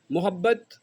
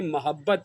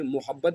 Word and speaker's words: محبت: میں جو لفظ ہے اس کی کا تلفظ اصل میں محبت ہے، ہم اس کو غلط العام میں محبت پڑھتے ہیں جبکہ یہ لفظ ہے محبت، اور محبت کا جو